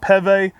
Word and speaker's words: Peve: Tyne Vergelt was actually here visiting a few years ago, and he pronounced it Peve, so I always stick with that.